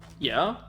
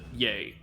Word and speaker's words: Ye: Kanye Omari West, Yeah? to Good name. Y-E. No, Ye. Y-E. Yeah, no, I know it looks like yeah, but he pronounces it yay.